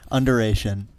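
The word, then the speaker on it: Underation: Exactly how it's pronounced.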